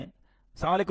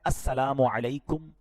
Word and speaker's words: السلام علیکم: ہاں سلام کی تلفظ ہی ٹھیک نہیں ہے. السلام علیکم, السلام علیکم, یہ سلام نہیں ہے بلکہ بعض اوقات تو اس کے میننگ ہی آؤٹ ہو جاتے ہیں. سلام کیا ہے؟ السلام علیکم ورحمۃ اللہ وبرکاتہ.